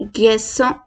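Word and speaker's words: garçon: सी को हल्का सा प्रोनाउंस करते हैं, एस काइंड ऑफ सा और एस में प्रोनाउंस करेंगे आप। जो प्रोनाउंसिएशन है वो सा और एस से मिलती जुलती एक्सेंट हमारी चेंज होगी। जैसे गैसों, गैसों, गैसों मीन्स बॉय, गैसों मीन्स बॉय, गैसों मीन्स बॉय।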